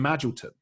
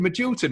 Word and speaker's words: Magilton: think it's Oxford, and he pronounces Jim Magilton as Jim Magilton. And I grew up thinking that Jim Magilton was a different player to Jim Magilton because he'd said the name wrong on his commentary.